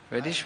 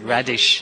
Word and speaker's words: radish: Reddish with that puff rice. reddish. Reddish. Yes, radish. Actually, not reddish, radish.